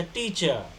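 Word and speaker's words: teacher: आप लोग टीचर बोल रहे हैं, सही बोल रहे हैं, लेकिन मैंने एक नियम बताया है कि र को क्या बोल रहा है, र को साइलेंट कर देना है। तो कविता इज अ टीचर।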